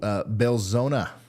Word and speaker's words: Belzoni: All right, so Belzona, I believe is how that's actually pronounced.